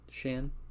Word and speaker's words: Shan: to take it shannon is it pronounced shan or sean how's it said shan okay now you'll have